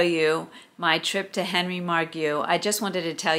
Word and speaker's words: Margu: to share with you my visit to Henry margu and yes that's how you pronounce it I will tell you about that